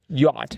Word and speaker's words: yacht: Yacht. Yacht. Yes. Rhymes with odd.